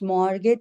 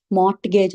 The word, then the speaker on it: mortgage: It is not mortgage. MORT ఉన్నంత మాత్రాన mortgage అని చదవకూడదండి. T is silent, అంటే T లేనట్టే చదవాలి. It's mortgage అన్నమాట.